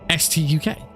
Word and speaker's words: Stuk: I calling it stook why don't I just say it should be pronounced the letters so it should be pronounced St UK and you know in